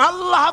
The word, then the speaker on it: আল্লাহ: বলে না আল্লাহ আল্লাহ পাকের উচ্চারণটা হচ্ছে আল্লাহ পাকের নামের উচ্চারণ হচ্ছে আল্লাহ মুখটা একটু গোল হয়ে যাবে বলেন আল্লাহ আল্লাহ সুবহানাল্লাহ